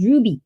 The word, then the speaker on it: RWBY: An after this dream I might go back to watching RWBY pronounced as Ruby volume 7.